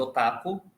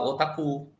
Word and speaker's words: otaku: otaku ou otaco né aqui a gente fala normal comumente otaco mas no japonês ah otaku e mangá animê é